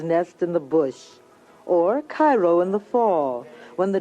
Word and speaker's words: Cairo: soil in and around Cairo or Koo giving it the Illinois pronunciation resembles that of its